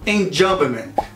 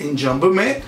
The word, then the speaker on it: enjambment: Em alguns casos, até o uso do enjambment. Que? Enjambment é um termo que pode ser pronunciado em francês, enjambement, ou em inglês, embora tenha uma versão